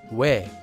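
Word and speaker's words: 외: sounds o and e, it's actually a combination of the sounds o and e. Oe, oe. It's pronounced as we, we. You can pronounce this diphthong and the previous diphthong in the same way.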